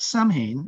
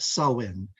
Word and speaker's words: Samhain: um an ancient holiday called not Samhain as it's spelled but sowin and this is a